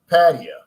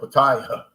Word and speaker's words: Pattaya: I went on to patio that's what they that's how they pronounce it I was calling it Pattaya but I'm glad I